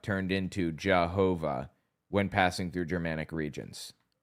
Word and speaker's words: Jehovah: But by the time we realized it had already passed through Germanic regions that pronounce Y's like J's and W's like V's and we ended up with a pronunciation that resembles Jehovah.